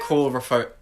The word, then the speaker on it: coulrophobia: Coulrophobia. Yeah. Yeah. I really hope you pronounced that right.